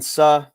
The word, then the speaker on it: Suh: I fully expected you to say Sue was 2,200 like the others, because it's Suh, baby. That's how you say it.